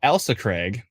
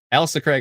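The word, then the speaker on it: Ailsa Craig: you kindly um uh so elsa craig i see ailsa not l-a-l-i it's a-i-l elsa craig ontario a minor rotation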